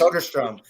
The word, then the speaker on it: Soderstrom: Soderstrom. There we go. I have trouble pronouncing his name, but he is a Turlock native.